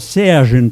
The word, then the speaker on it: Sergei: This is Polyakov, called Serge in Paris, but Sergei, to those of us who insist on pronouncing his name as it should be in Russian.